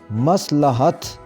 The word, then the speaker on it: مصلحت: لفظ ہے مصلحت، مصلحت، اس کا صحیح تلفظ مصلحت، لام کے اوپر زبر آئے گی، صحیح ادائیگی بنے گی مصلحت، مصلحت۔ رویہ، واو کے